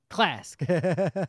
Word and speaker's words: Klask: No, it's Klask. Like flask, right? One.